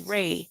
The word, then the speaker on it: Ra: the ancient Egypt deity Ra, the symbol of the ram, deity of the sun, fertility, of life and growth, which is pronounced as ray, as the ray of the sun.